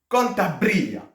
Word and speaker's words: Cantabria: avis où se trouve kantababa donc là c'est bien un B et non pas un V dans kantaba on prend prononce bien le B à votre avis et